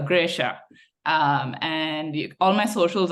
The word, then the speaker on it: Gresshaa: this is kind of how you say my name if you want to try it's G as then you're gripping something and then sha as then sh so graa um and all my